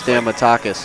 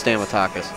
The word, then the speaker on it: Stamatakis: my shortterm memory is stamatakis yeah I think it's stamatakis but I've heard nothing pronounced it's exactly how you see it you break it down into one two three four well I heard nothing